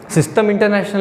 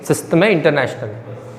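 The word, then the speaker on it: Système International: ठीक है, French word है, सिस्टम इंटरनेशनल नहीं है, सिस्टम है इंटरनेशनल है, कुछ फ्रेंच प्रोनाउंसिएशन है इसका।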